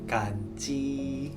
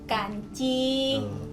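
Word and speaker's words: 感恩: Kalau bersyukur di dalam bahasa Mandarin itu bacanya itu kanci. Kanci. Nah, sekali lagi, yuk. Bersyukur, kanci.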